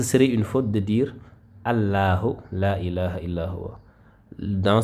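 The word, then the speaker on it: الله: Dans ce cas-là, le lam de la majesté va se prononcer Allah, Allah. Regardez, je vais vous donner des exemples comme ici, on a Tallahi, Tallahi. Ici, dans ce cas, la lettre Ta qui précède a une fatha. Conséquence, le nom d'Allah va se prononcer avec lourdeur. Donc, on va dire Tallahi, Amrullahi, Amrullahi, Allahu.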